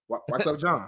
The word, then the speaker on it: Wyclef Jean: Wyclef John. You gotta say it like this. Wyclef John. Wyclef John, come over here. Nah. When you say it, you gotta like lean forward with it. It's Wyclef John.